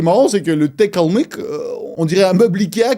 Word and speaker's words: Kalmyk: En Russie, on appelle ça, cette région, Kalmykia, Kalmyk. Et en France, on dirait que vous n'arrivez pas à prononcer la lettre U, et c'est pour ça que du coup, vous dites Kalmouk.